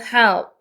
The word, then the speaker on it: help: Your help. help이라서 이 마지막에 P 발음은 입술 붙였다 떼시면 됩니다. help.